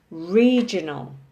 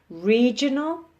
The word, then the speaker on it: regional: circles so these are words with three syllables with the emphasis on the first syllable so we have regional national and critical okay regional national critical stressing the first syllable let's go down to